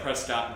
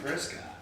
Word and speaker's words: Prescott: So, and you know people that are not from Nevada because they pronounce it Nevada. It's Ohio. Or that's like Prescott and Prescott.